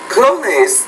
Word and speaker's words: closeness: The word close, you're not pronouncing that S in the middle.